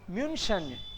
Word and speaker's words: München: म्यूनशन, म्यूनशन. München. देखो इसको म्यू पढ़ रहे हैं ना हम लोग, म्यू. वाई the first letter becomes half.